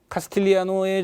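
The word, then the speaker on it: Castigliano: 카스 T, 이 G는 묵음이래요. 카스틸리아노의 정리라고 하죠.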